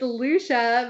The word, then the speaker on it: Lucia: you so much brian you did pronounce my name wrong it's lucia but that's okay because